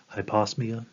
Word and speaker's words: hyposmia: hyposmia is how that's hyposmia is how that's pronounced or hyposmia um accounts for decreased